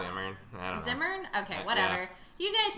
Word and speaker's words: Zimmern: Zimmerman, because it's spelled Zimmern. It's spelled Zimmern. Look at it. It's Andrew spelled Zimmern. I don't know. Zimmern?